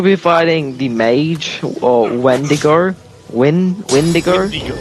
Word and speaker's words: Windigo: Shouldn't we be fighting the mage or Wendigo? Windigo? Windigo. Wind. The Windigo. The Windigo. It is pronounced.